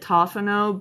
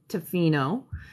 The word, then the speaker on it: Tofino: time i had it i was up in tofino um some people call it toffeno but it is tofino that's up island here uh on the northern